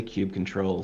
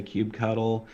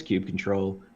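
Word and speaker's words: kubectl: and by the way i say cube control some people say cube cuddle i've heard all kinds of crazy pronunciations uh but for me it's cube control hopefully that doesn't offend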